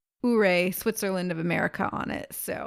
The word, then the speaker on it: Ouray: half a day in Ouray, Colorado. Or is it Ouray? We're not entirely too sure of the pronunciation. We heard several different people from Colorado say it differently, but it is spelled O-U-R-A-Y, Ouray, as I like to say.